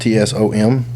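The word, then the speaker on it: צום: 84 in the Hebrew it's it's own TS pronounced tsom but the word fast is rarely associated with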